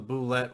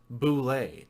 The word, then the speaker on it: Bulette: It was originally pronounced Bulette to make it sound more French. From my point of view, this explanation leaves a lot to be desired for two reasons. Particularly, Bulette doesn't sound very intimidating to me. It's also not how a French speaker would pronounce that word as written. So I'm going to stick to Bulette.